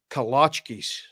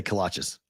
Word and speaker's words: kolache: Kalachkis. kolaches. I say kolaches. I always have. Kalachkis. Kolache. It's Eastern European. I know what it is. It's over there. I say kolaches because Texas people say kolaches.